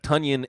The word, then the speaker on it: Tonyan: tunyan by the way tanyan rhymes with bunyan uh see someone i